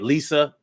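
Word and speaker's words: Lysia: lee i'm sorry lisia i guess you probably pronounced that lisa l-y-s-i-a lisa johnson happy birthday to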